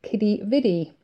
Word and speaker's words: Quidi Vidi: from where I'm staying is a place called Quidi Vidi. It's spelt Quidi, Quidi, sort of a Latin type spelling.